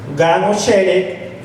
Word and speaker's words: Genesaret: palabra, que dice que viene del hebreo y se pronuncia o se escribe Gan-o-Sheret, espero que así sea como se pronuncia, y significa jardín de las riquezas.